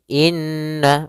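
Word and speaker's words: إِنَّ: Pada bacaan inna, di sini ada huruf nun yang berharakat tasydid. Maka cara membacanya yaitu kita menahan suara nunnya. Suara nun kita tahan dulu baru dibaca. Jangan langsung innalladzi, tapi tahan dulu 2 ketukan.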